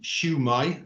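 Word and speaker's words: Sut mae: you hear siva yeah shamai is a similar uh uh term how's it going yeah shamai and people tend to respond shamai um in english it's pronounced shumai so i just just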